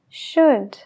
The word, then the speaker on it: should: nada Como por ejemplo la t en Listen no la oímos Listen la W en answer answer la l en should should lo mismo con could